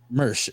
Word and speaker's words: Mirsch: discussion with uh David is your last name pronounced merch correct merch good I'm always I'm so bad at pronouncing